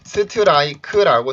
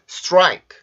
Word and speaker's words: strike: 우리나라 말에서는 이게 스트라이크지만 여기에서 마찬가지로 폐세음, R 발음, 강세 모음이 있기 때문에 이때 여기 T 발음이 R 발음의 영향을 받아서 입술이 쭉 나오게 돼요. 그러면 소리가 스트라이크가 아니라 스트라이크 이런 식으로 발음이 됩니다.